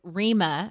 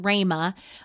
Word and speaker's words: Rhema: or the logos word it is Rima some people pronounce it Rhema word of God and